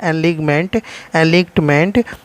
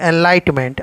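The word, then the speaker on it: Enlightenment: यहाँ पर ये जो मसाल है एनलिगमेंट, ये मसाल जो है एनलाइटमेंट, आप एनलिगमेंट भी बोल सकते हैं, एनलाइटमेंट बोल रहे तो सही प्रोनाउंसिएशन होगा।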